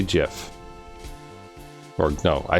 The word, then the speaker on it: GIF: it incorrectly I say gif or no I say GIF sorry the Creator says GIF with it like the J gif oh so you say